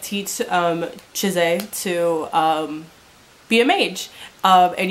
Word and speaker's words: Chise: So I just watched the first episode of the anime just to make sure that it was how to pronounce her name. It is Chize. Chise.